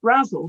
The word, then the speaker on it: Brazil: Victoria, and I now know that it's Brazzle to rhyme with razzle dazzle, and you certainly did dazzle us there.